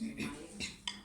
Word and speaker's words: Niemeyer: é o Oscar Niemeyer, nós dizemos Niemeyer, a pronúncia.